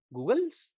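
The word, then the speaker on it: goggles: आप स्कूल में जाएंगे, आप बच्चों को सिखाते हैं गूगल्स हैं भाई ये, तो मामला गलत हो जाएगा ना। तो क्या उच्चारण है? गोगल्स हमें इनको बोलना है, ठीक है, गोगल्स।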